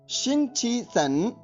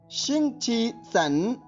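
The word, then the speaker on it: 星期三: इसकी स्पेलिंग सुनिए, XINGQISAN। एक बार फिर सुनिए, XINGQISAN। अब ध्वनिवादन सुनिए, शिंगची सन, शिंगची सन, शिंगची सन।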